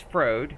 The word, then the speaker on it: Frode: Nope, that's Frode. Whose name rhymes with Chode.